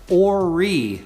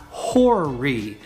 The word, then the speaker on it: Horry: that right it is ori not horry so horry county is spelled h-o-r-r-y so we want to drop the h and pronounce it as ori this is probably the